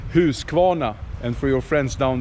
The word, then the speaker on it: Husqvarna: my Australian friend dkw125 we say who's kwona and for your friends down there Down Under here is where it all started who's come on now from 1689.